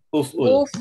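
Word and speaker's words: اُفْعُلْ: Karena ain fiilnya dhammah, maka hamzah wasalnya dhammah juga. Berarti bacaannya Uf'ul. nah, bacanya uf'ul.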